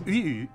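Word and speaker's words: དབུས: Why the Tibetan language is Uyu, even though it's really Dbus, and this, the name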